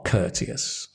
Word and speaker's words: courteous: stress the first word right the the first syllable cous cus Cous I am Cous you are courteous I'm sure civil civil it's a V civil